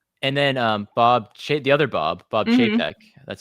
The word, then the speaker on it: Chapek: Like, years ago, people didn't like him, and then the other Bob Chapek. That's how you pronounce it.